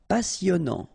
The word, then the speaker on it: passionnant: Passionnant. Okay, here you pronounce the double S because you've got a vowel, so it's really a strong one.